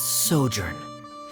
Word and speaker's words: sojourn: Director Zosimos, how do you pronounce this word? Let me see. That's sojourn.